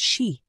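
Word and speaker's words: 四: Die Ziffer 4 wird zum Beispiel als Shi ausgesprochen, was auch Tod bedeuten kann.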